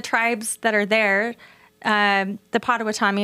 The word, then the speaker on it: Potawatomi: In fact, Indian agents and the tribes that are there, the Potawatomi, am I saying there? I always say it wrong. Potawatomi.